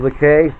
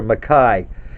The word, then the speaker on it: McKay: Okay, fellas, this is the Flying Cloud Extreme Clipper, built in 1851 by Donald McKay or Mackay. It depends on how much you like to pronounce his name.